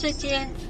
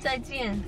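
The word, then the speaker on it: 再见: Zaijian. I was about to say shishi. What? Zaijian.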